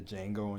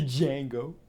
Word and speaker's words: Django: recently it's like the Django and chain or Django and chain I said I pronounced the D but it's like the Django Django Unchained that [